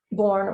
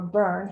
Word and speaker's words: Bourne: David's last name, Bourne or Burn, however you choose to pronounce it, is sort of an archaic English word.